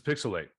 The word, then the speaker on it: PixelHate: the show this is pixelate where the H is silent but the hate is real okay start the slander